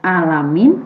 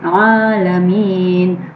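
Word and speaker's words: العالمين: Nah, ini bacanya bukan alamin, tapi bagaimana? Alamin. Huruf ain dikeluarkan dari tengah-tengah tenggorokan, seperti mengucapkan huruf H.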